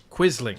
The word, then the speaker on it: Quisling: It's pronounced Quisling.